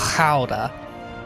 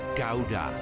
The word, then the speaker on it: Gouda: Pretend something is stuck in your throat.